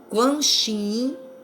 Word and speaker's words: Kuan Yin: Quem faz o rosário, a novena da bem-amada Mãe Kuan Yin, esse Quan Yin, ela fala assim, Quan Yin é a pronúncia certa, as outras não é usada, porque como ele mesmo